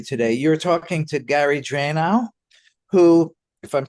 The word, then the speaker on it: Dranow: I'm pronouncing that right, or Dranow, It's like who, Liquid Plumber, just like Liquid Plumber. well, he also is the only Gary Dranow or Dranow on the, Drano, yep.